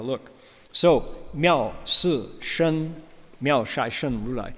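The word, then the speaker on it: 妙色身如來: So, miao si shen, miao shai shen rulai. Shai is the Manchurian dialect pronunciation. Some people will recite it si, right? Miao si shen rulai, miao shai shen rulai.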